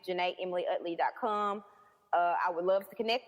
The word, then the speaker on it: Jena: Gym is spelled Jem, or just my name, Juh-nay, I would love to connect with you, crushes, and talk to you and laugh with you.